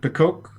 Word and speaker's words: Pecoque: But I mispronounced their name. Oh no. It's supposed to be Archduke Pecoque. Thank you, Jed. That's amazing. All right. Archduke Pecoque.